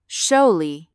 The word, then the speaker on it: Shalley: My name is Shalley, pronounced like Sholley.